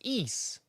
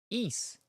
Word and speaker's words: Ys: It's pronounced Ease. YS is amazing. Ease.